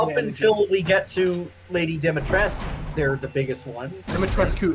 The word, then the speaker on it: Dimitrescu: until we get to Lady Dimitrescu, they're the biggest ones.